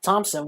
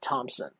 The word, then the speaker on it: Thomsen: You can't say the P because he doesn't have a P in his name. It's spelled Thomsen. In case anyone's wondering. Yes, so it's Thompson. Thompson. It's not Thompson. Or rather, I'll enunciate it. It's Thompson, not Thompson. You got to take the P out because there's no P in his name.